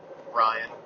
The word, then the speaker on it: Bryon: It's kind of like Byron, but Bryon.